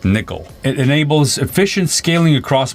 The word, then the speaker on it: NCCL: NCCL is pronounced Nickel.